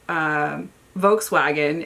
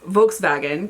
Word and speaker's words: Volkswagen: Volkswagen is Volkswagen because W's are V's over there.